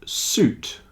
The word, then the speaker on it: suit: But fruit juice and suit, the I is not pronounced.